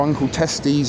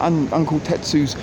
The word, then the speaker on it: Uncle Tetsu's: the uncle test use or uncle testes as I sometimes mispronounce it but uncle Tetsu's Japanese cheesecake sometimes the